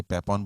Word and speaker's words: Papon: आपने पापौन बोला, सही, पैपौन बोलते, मैं बोलता पापौन बोल देना, क्योंकि आप